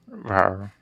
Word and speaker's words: Rar: Rar? It's like roar.